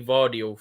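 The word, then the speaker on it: Gvardiol: So from what I've heard, it's actually Vardiol, from what I've heard, yeah. Is that because I think that's the Croatian pronunciation, right? Vardiol. But if you want to say it in the English way, maybe.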